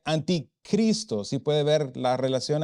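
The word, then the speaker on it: ἀντίχριστος: El sustantivo anticristo se pronuncia anticristo.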